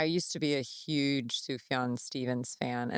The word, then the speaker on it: Sufjan: And Sufjan, is it Sufjan Stevens? Sufjan.